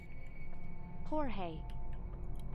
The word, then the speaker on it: Jorge: Okay, is this George or Jorge? Finish unpacking and neatly organize all the new Shinitsu TVs. See that nothing happens to the new Shinitsu extra large. That's our beautiful new crown jewel. Then turn everything on via the switch by the door. Just make sure it's powered first. Jorge? That's what I thought.